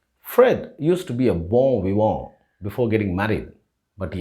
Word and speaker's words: bon vivant: So, it is bon, and the T at the end of VIVANT is silent. And the N before T should also be pronounced with the O sound. So, the word is bon vivant.